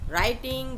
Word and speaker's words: writing: राइटिंग, WRITING, राइटिंग, इसमें W silent है, इसको राइटिंग पढ़ेंगे, मीन्स लिखना, किसी भी पेपर पे पेन या पेंसिल से लिखना, राइटिंग।